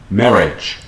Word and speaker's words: marriage: Marriage, marriage. Nhấn phần một ha các bạn ha. Marriage, chú ý cách phát âm ở cuối.